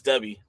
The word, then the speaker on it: Dubby: and this is a dubie Tuesday doobie Tuesday yeah because we are sponsored by dubie dubby it's dubby I said it wrong oh right now we're